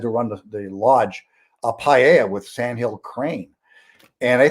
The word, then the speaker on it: paella: Well, I have to teach you how to say it first, though. It's paella.